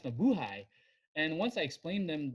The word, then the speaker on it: mabuhay: Because, phonetically, we say Hay as hey. Yeah. So I was like, no, it's, sorry, it's pronounced mabuhay.